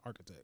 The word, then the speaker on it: architect: Architect. Oh. Yeah, architect. I said it wrong? Well, it's architect. It's like a K.